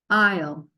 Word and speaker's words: aisle: Can you remember how to say this word? I-O, aisle.